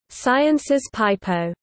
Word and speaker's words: Sciences Pipeau: As a result, the school is often nicknamed Sciences Pipo, pronounced and sometimes spelled Sciences Pipo.